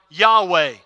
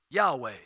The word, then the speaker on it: Yahweh: Well, they took the Hebrew letters for the word Adonai, the vowels from Adonai, and put it on Yahweh so that they wouldn't run the risk of accidentally, even though it doesn't have any vowels, saying the name of God.